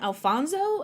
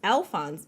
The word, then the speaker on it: Alphonse: what is his name Alfonso and like they like they make it Spanish and I'm like no it's Alphonse and it's spelled like